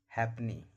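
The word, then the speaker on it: halfpenny: एकमात्र ऐसा वर्ड है जिसमें एफ साइलेंट रहता है और वो हैपनी। हैपनी में एफ जो है वो साइलेंट रहता है।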